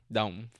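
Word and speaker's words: đồng: is a crazy name dong is correct pronunciation but yeah um but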